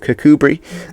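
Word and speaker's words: Kirkcudbright: and then one of cuckoo Bri which is how you pronounce that we even though it doesn't look like you should pronounce it like that and if you do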